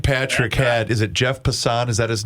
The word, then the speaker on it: Passan: Pat, the best clip I saw this week, Dan Patrick had, is it Jeff Passan? Is that his name? Is that how you pronounce it?